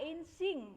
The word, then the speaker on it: Yijing: Ya, Insing ya, bacanya Insing ya.